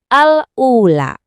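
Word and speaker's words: الأولى: Kita lihat ada hamzah diikuti oleh alif. Nah, jadi kita bacanya dengan peregangan 2 ketukan, al-ula. Kedengaran kan?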